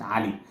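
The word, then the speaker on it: علي: on the accent so in my accent we pronounce it Ali this is a whole different topic anyway and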